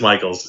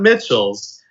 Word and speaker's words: Michels: it it it is Michael's and um maybe that's like my hidden goal is for everybody say no it's not Mitchell's it's Michael's he's big now yes